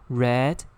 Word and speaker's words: read: R-E-A-D here is pronounced as read. Don Quixote. So red, like the color red.